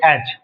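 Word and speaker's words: edge: sleeping न द एज इसको पढ़ते एज य पर साइलेंट है जी का सांड जा है एज ऑफ ूज रॉक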